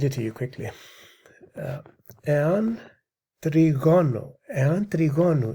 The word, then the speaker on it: τριγώνου: λόγων τες λιπές του τριγώνου, actually that's τριγώνου because the accent is on the omega, πλευρές.